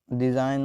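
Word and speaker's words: design: डिजाइन मतलब नमूना। अब इसमें जी साइलेंट है, डिजाइन में जी साइलेंट रहता है, और इसमें मलाइन मतलब बदनाम करना।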